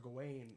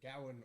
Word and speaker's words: Gawain: the arthurian legend of sir gawain or sir gowan or there's like three pronunciations in this movie it's true and the